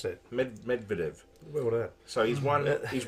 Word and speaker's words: Medvedev: pronounce that? Medvedev.